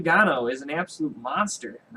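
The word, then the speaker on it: Ngannou: division Francis Gano not inano was call him inano but the N is silent so Francis Gano uh against bhan mihalovich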